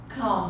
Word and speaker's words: calm: Calm down. Take it easy. Be calm. Ok? E a questão para pronúncia aqui, tá, gente? Esse L, ele nem é pronunciado.